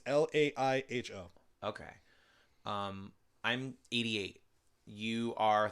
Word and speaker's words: Laiho: I mean, I could be pronouncing it wrong. It's Laiho.